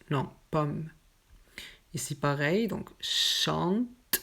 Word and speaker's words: chante: Ici, pareil, donc chante. On ne prononce pas le dernier T ou EN.